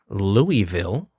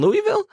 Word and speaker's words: Louisville: and I'm going to say it correctly here Louisville you did not say it correctly Louis oh